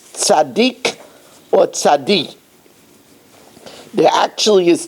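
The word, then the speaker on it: צדיק: So at least that acronym points that it should be pronounced tzaddik and not tzadi.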